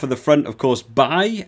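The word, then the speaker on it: Baille: Starting off at the front, of course, Bay, as I now think it's pronounced, rather than Bale.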